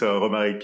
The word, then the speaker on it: Romaric: It's Romaric, from Qovery.